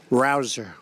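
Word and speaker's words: Rouzer: job David Rosa hey you know how you pronounce it rabble rouser you go David rouser where's David is he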